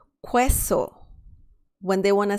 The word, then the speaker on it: queso: and the last word please don't say queso because that's wrong please say queso que so that means cheese perfect